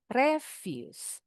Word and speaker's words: refuse: Yang ini bacanya refuse.